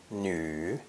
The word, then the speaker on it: 女: arms now face downward this character is pronounced third tone new new again we have the french and german uh sound pronounced e with rounded lips some easy expressions with